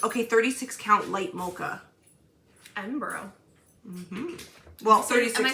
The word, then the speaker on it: Edinburgh: Edinburgh. Mm-hmm. Well, 36. Am I saying that right? Yeah. Edinburgh? Yeah. Someone corrected me once. It's like Peterborough.